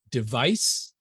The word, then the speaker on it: device: to device devise device I should make one comment on the pronunciation of the two words devise and device device is the noun device device if I put my hand on my throat and I say device the noun I should feel no